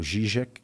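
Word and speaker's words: Žižek: Mas fora você vê o Mangabeira Unger, você vê o Slavoj Zizek, o Zizek, que é a pronúncia correta, você vê o Alain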